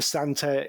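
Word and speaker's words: Santer: The Santa is spelled S A N T E R.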